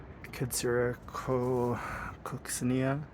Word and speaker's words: Kadsura coccinea: And then I also repotted these Kadsura Coccinea. That's how you pronounce it.